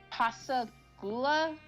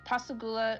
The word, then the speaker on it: Pascagoula: In 1982, he was arrested in Pascagoula, I think that's how you say it, Pascagoula, Mississippi, and charged with